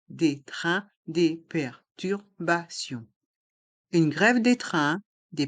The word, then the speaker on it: perturbations: le s est mué des perturbations le T se prononce ce car il est entre deux voyelles les voyelles a et i si et les lettres i o n on le son ion Bion et le s est mué perturbation une grève des